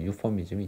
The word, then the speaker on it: euphemism: 아무튼 그래서 여기서 보시면은 이제 유서네이저가 있고 안락사하고, 그 다음에 여기 맨 밑에 있는 거 완곡어법 해가지고 유퍼미즘이 있죠. 강세가 유퍼미즘이에요. 앞에 있는 거 앞에.